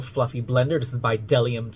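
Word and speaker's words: Bdellium: blender this is by dellium tools the bee is silent and this is from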